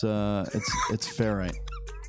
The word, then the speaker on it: ferrite: lounge would like you to know it's a ferrite ring, not a ferret ring. Excuse me. I had a pet ferret, and I never called it a ferrite. Thank you very much. Yeah, it's ferrite.